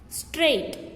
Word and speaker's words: straight: Next, straight. Here GH is silent.